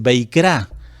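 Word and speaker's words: וַיִּקְרָא: Levítico en hebreo no es Levítico, en hebreo es Beikra, es B corta E I K de kilo R A acento en la A, Beikra.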